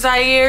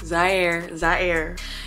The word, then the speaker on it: Zaire: My name is Zaire. If you didn't know, that's how it's pronounced. Zaire.